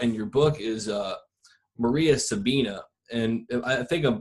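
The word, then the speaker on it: María Sabina: you talk about in your book is uh Maria Sabina and I think I'm pronouncing that correctly absolutely Maria Sabina and I had a friend of her before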